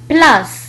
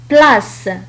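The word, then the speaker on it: place: تنطق كحرف السين إذا جاء بعده الحروف المتحركة إي أو أو أو إغريك. مثال على ذلك بلاس إذا نطقت كحرف السين لأن بعدها الحرف المتحرك أو. بلاس.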